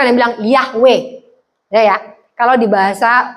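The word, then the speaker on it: Yahweh: makan jagung panas bukan yhwh bacanya itu sama seperti anda bernafas ketika pertama sekali Anda lahir apa yang anda sebutkan yahwe ketika orang mau mati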